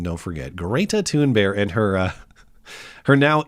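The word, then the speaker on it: Thunberg: But uh Greta Tune Bear, which is the proper pronunciation, don't forget Greta Tune Bear and her uh her now internet appreciated assets uh were uh well, they're now back at sea.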